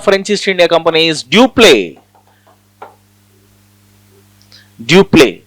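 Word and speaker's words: Dupleix: The governor of French East India Company is Dupé. Dup X is silent. Dupé is very powerful French governor.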